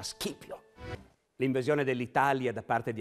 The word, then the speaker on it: Scipio: Però in questo caso specifico, sì, i romani la C la pronunciavano dura e quindi il loro generale si chiamava Scipio.